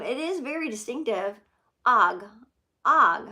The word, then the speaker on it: Og: paper in one month I signed my piece Aug Aug after I'd written it I decided to be different and spell it phonetically OG it stuck that is